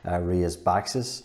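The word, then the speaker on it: Rías Baixas: northwestern corner close to Ria's boxes that's how you pronounce it and so the famous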